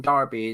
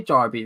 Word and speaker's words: derby: And Lanzini loves a London derby. That's pronounced derby. I've changed the way I say derby recently. I used to say derby.